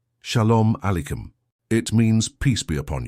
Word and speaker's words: Shalom Aleichem: "Shalom Aleichem. It means peace be upon you." "Shalom Aleichem," Klaus repeated, his pronunciation improving.